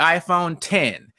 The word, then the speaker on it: iPhone X: yeah pretty cool so that aside onto the iPhone 10 now people stop saying iPhone X jovan it's the official called it's pronounced and as in 10 is called Weston